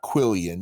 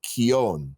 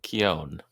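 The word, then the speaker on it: quillon: that's a pet peeve of mine it's not quillion it does not spell that way and it is not pronounced that way it is pronounced Keown Keown okay all right that's totally I appreciate linguistics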